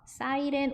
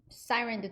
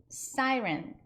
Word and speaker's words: Siren: 사이렌 오더라고는 써 있을 거예요. 한국말로는. 스타벅스 두 번 한번 해보실게요. Starbucks, Starbucks. Siren도 두 번 해보실까요? Siren, Siren. 이 사이렌은 어디서 많이 들어보지 않으셨나요? 우리나라 발음식으로는 사이렌이잖아요.